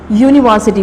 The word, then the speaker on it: university: For example, university, word university, university. Here the word university start with U, the letter U is vowel, but it's not give the sound alif.